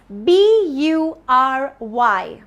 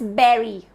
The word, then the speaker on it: bury: Let's look at the next word, which is BURY. BURY. It's a short and simple word, but it's not bury, it's not buri. I don't know if it is pronounced in any other way, but it's berry.